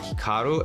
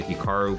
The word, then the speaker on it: Hikaru: Now, even myself, when I pronounce my name, it's definitely more Americanized versus Japanese. Certainly, if I was pronouncing it correctly, it would be more like Hikaru as opposed to Hikaru, but I've spent so much of my life here in America that that's just how I pronounce it, and everyone does the same thing.